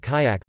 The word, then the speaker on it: kayak: is often replaced with kayak pronounced kaya.